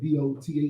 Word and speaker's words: doth: D-O-T-H? Is it doth or doth? Doth. Like do or does, doth. Like doth.